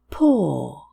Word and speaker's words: paw: Four different spellings, but the same sound.